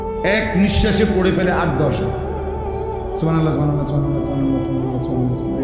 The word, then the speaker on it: সুবহানাল্লাহ: হা এটা হলকের মধ্যখান থেকে উচ্চারিত হতে হবে। সুবহানাল্লাহ বললে হা তো উচ্চারণ হয় না, তা তো অশুদ্ধ।